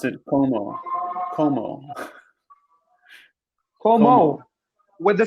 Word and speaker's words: comment: They pronounce ent like O.